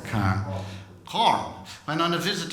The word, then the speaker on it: Carhen: And when on a visit, I hope I got to pronounce it, it's spelled Carhen, but I believe it's pronounced Carn, is that right? Carn.